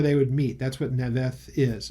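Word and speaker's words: Naioth: stayed at, it says Naoth here, but it's Naveth is how it would be pronounced in Hebrew, Naveth.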